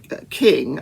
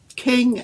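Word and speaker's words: Kueng: officers were jay alexander king i think it's pronounced king it's spelled k-u-e-n-g thomas lane and tutao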